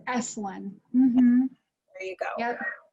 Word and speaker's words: Esalen: Esalen. Esalen Institute's in Big Sur, California. Yeah, it's Esalen.